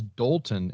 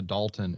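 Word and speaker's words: Dolton: for the listeners I'm I'm stressing the O instead of the a I thought you were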